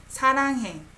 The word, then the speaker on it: 사랑해: It sounds like more like relaxed tongue, like behind your upper teeth. 사랑해.